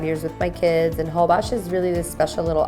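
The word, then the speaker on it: Holbox: For my birthday this year, we went to Hobox, spelled Hobox, pronounced Hobox.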